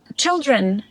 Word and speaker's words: children: And children. Can you pronounce children right now? Children. Yeah, when you said children, this first ch sound, it didn't quite sound right.